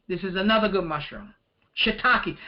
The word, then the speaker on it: shiitake: is another good mushroom shiitake I remember the first time I read this I said what is that cake because of the way it's spelled and like I said